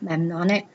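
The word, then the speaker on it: mnemonic: memorizing something easier um so that is spelled m n e m o n i c memonic kind of sounds like memory um Wikipedia defines it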